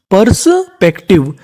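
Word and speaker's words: perspective: हमारा कोड होता है टी आई वी ई को हम लोग पढ़ते हैं टिव तो मीनिंग क्या बनी? परसपेक्टिव यानी पर्सपेक्टिव।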